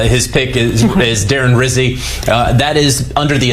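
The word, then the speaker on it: Rizzi: he said quote I my vote for head coach rhymes with fizzy of course JJ he is referring to Darren Rizzy who is the interim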